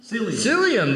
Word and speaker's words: psyllium: Copper, choline, can you pronounce that word? What's that one there? Psyllium? Psyllium, there you go, thank say you.